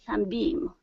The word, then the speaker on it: sunbeam: was coing through a sunbeam. Okay, very good. Let's take a look at that last word. Instead of sunbeam, the stress is at the beginning of the word. Sunbeam. Sunbeam.